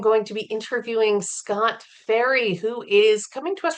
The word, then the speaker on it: Ferry: Please welcome to the poetry saloncast Scott Ferry. Fe R Y. It's how it's pronounced, isn't it, Scott?